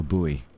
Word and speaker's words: buoy: A buoy. Two pronunciations, isn't there? Buoy and boy.